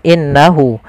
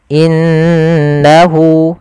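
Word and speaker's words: إِنَّهُ: diwarnai dengan warna hijau cara membacanya Jangan langsung innahu tapi ditahan dulu gunahnya dimasukkan ke rongga hidung kita in inahu innahu ahah seperti itu kesalahan yang terjadi tidak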